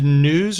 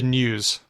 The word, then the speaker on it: news: do you read the news news oh interesting okay so you so what Gary's doing there is including a little y a little Y sound in in news not not in tune yeah calculator is another